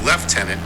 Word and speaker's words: lieutenant: English family it's fanore the military ranked Lieutenant is left tenant yes chel Mandy is